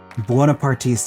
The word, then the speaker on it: Buonapartista: Buonapartista. It's like Bona Beef, a local chain here in Chicago, plus Partista.